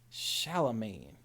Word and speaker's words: Charlemagne: Shallow main, like shallow waters. Why are you or- so shallow, man? That. Like Gucci Mane. Charlemagne.